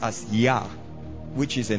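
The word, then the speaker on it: Jah: why the word J J ah H is pronounced as yah which is a name for God and for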